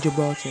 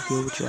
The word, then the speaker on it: Gibraltar: Haha, Gilbertrio is funny. I mean, Gibraltar. I always pronounce it as Gilbertrio. I don't know why.